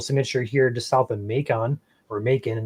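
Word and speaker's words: Macomb: of a rotational signature here to South of makon or mon I'm not sure you guys pronounce it over there in Illinois over here in Michigan we pronounce it makon but also could be pronounced I think bacon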